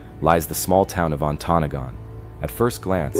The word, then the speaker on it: Ontonagon: He's saying Ontonagon.